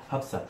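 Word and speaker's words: Hafsah: you spell that? H-A-F-S-A-H. H-A-F-S-A-H. F-S-A-H. Yep. Hafsa. Very cool. Yep. Okay. Hafsa.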